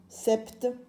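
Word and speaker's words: sept: T e 7 voilà comment s'écrit 7 se mais le P ne se lit pas 21 alors on a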